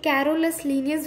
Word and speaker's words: Carolus Linnaeus: वो actually कैरोलस नहीं होता है, कैरलस होता है, इस वजह से मैंने कैरलस पढ़ा है।